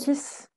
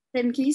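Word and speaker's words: Steinkis: que Paulina, c'est ton éditeur, c'est comment on prononce? Stankis. Stankis, c'est ça.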